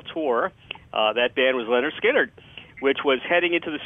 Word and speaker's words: Lynyrd Skynyrd: first three albums uh pronounced Leonard skinnard second helping and nothing